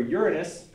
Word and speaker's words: Uranus: For Uranus, remember that that's how it's pronounced.